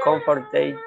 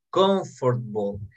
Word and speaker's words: comfortable: Vamos a ver, his house is more comfortable. Esta palabra se pronuncia de forma correcta. Se pronuncia así. Escúchenme, por favor. Se pronuncia, no es comfortable.